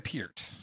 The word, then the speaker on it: Peart: his name so so I think I'm gonna go back to Peart because I I look yeah this is e-r-t is Peart one syllable here that's that's how